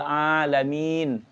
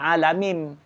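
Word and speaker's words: العالمين: Memang di dalam ujung Fatihah itu kan ada mim, ada juga nun. Alhamdulillahi rabbil alamin. Jangan alamim. Jangan.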